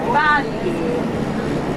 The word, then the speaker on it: Bari: And in this place, they pronounce, in this region, they pronounce the A like an E. So they say Bari. Bari. The Italians say it's Bari.